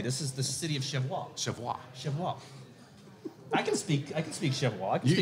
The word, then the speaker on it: Cheviot: You have to say it right, Cheviot.